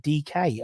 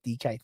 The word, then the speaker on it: Nketiah: It's pronounced DK. Oh, it's not Dyke. DK.